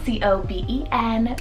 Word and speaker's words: Coben: Coben, spelled C-O-B-E-N, Coben. This is a great Cohen alternative. It has a habitational name meaning. It also means supplanter or ruler, so that's really cool. And Coben, you can do the nickname of Kobe.